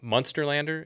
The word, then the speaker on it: Munsterlander: So I had a lab, and he had, let me see if I get that one, Munsterlander. Is that how you pronounce that one?